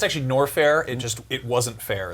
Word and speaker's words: Norfair: Like this is actually It's actually Norfair.